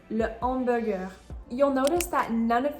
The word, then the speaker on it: hamburger: And finally, the H at the beginning of hamburger is again not pronounced. Even though this is an English word where we say hamburger, in French that is not the case.